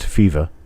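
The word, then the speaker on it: Fivaz: names were bill feva spelled f i v a z but pronounced fifa and j t stanton and the f for fifa and the s for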